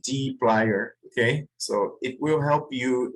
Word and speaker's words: dplyr: I did my research and it's pronounced dplyr.